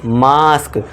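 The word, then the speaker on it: mask: जब ए के बाद एस टी या फिर एस के आए तब भी ए का उच्चारण फिर से बड़े वाले आ का करना है। अब ए के बाद एस के है तो इसे क्या पढ़ेंगे? मास्क।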